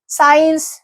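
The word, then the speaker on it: science: अब सी की बात करते हैं तो देखिए सीन, साइंस, फैसिनेट, इसमें जो है हम एस को प्रोनाउंस कर रहे हैं, सी को प्रोनाउंस नहीं कर रहे हैं।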